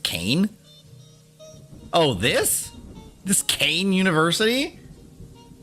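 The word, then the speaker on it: Kean: folklore and gossip among the local population it's pronounced cane oh this this cane University all right first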